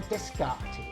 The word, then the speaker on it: Descartes: Was it Isaac Newton, Francis Bacon, Galileo, or Descartes? Isaac Newton, Francis Bacon, Galileo, or Descartes? Right, Descartes, that's how you say it, isn't it? Not Descartes, it's Descartes.